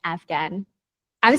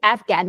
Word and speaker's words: Afghan: impacted you as an Afghan? I'm saying it right? I have to say Afghan because last time you said when I said Afghani, that's actually the currency.